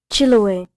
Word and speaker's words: Chiloé: Chiloé.